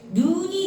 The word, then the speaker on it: 눈: 아카시아 꽃처럼 눈이 내릴 때. 이 눈은 우리 보는 눈은 짧게 발음해요. 눈. 근데 하늘에서 내리는 눈은 눈 이렇게 길게 발음해요. 장음이에요.